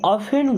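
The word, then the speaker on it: often: आई ऑफेन go there. I means होता है मैं। अब देखिए यहां पे टी साइलेंट है।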